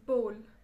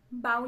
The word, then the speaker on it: bowl: Number 4, ये कटोरा देख रहे हो, दिस इज बोल. बाउल नहीं होता.